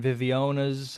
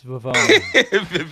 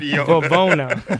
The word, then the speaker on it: Vivona: Vivona, everybody does. I've been getting Vivionas. I've been getting Vivanos. It's Vivona. Vivona.